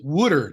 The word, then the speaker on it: water: The word water, W-A-T-E-R, give me a glass of water. You pronounce it wooder, W-O-O-D-E-R, and that's absolutely correct.